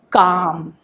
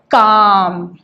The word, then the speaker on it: calm: When we pronounce this in English, we say this word as calm. Now, when we have to write this in shorthand, we need to focus only on the sound which we are hearing while pronouncing this word. Now, when we pronounce it, we say it as calm.